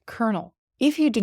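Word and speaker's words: colonel: But in reality, this is gauge, and this is choir, and the pronunciation of this word is kernel.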